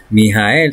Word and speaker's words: Mijael: Mijael se escribe m i j a e l s y un número siete.